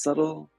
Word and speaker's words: subtle: is subtle very subtle as subtle as a t you don't pronounce uh yeah super subtle